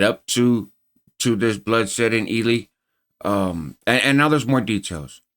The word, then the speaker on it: Ely: August 1st in Ely State Prison in Nevada. See, I'm going to pronounce it the right way this time.